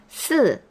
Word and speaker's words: 四: 4 is 四 the fourth tone, 四.